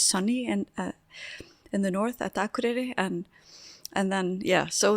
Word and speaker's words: Akureyri: They like pronounce the town Akureyri instead of we would say Akureyri.